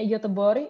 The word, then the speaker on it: Göteborg: Seperti Gothenburg, bacanya Göteborg, ini bacanya bukan Liseberg atau Liseberg, tapi Liseberg.